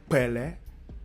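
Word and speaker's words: pẹlẹ: instead of saying Pele, you just remember this, you add your key sound and your initial lip roll, and then you go Pele, Pele, Pele.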